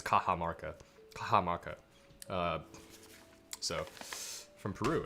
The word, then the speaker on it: Cajamarca: in mexico in latin america the y's are pronounced with is j's but it's a j anyways um so it's kaha marca kaha maka so from peru i suppose um